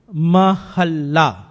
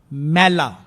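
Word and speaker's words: ਮਹਲਾ: So when it appears like this, it is mahalla, not mela.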